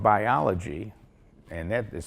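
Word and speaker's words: Buyology: And his book called Biology, and that is spelled B-U-Y-O-L-O-G-Y, is a great read for not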